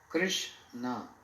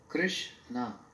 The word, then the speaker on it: Krishna: Krishna, two syllable, Krishna. Krish means one who possesses all opulences.